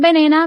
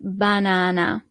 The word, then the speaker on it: banana: So the only thing that changes is the pronunciation. The banana is la banana. So not banana, but banana.